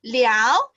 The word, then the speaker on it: 了: you have another context let's invite teacher Wong to explain about this L okay hi okay so this word L have two pronunciation one is L and in another one is le le okay so L can be